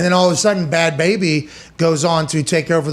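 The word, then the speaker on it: Bhad Bhabie: Bad Baby. The H is silent.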